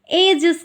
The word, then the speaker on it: edges: Line को एजेस कहते हैं, EDGES। डी यहाँ साइलेंट रहता है।